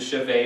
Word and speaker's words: chevet: This is the chevet or chevet if you're English and you don't like to pronounce French.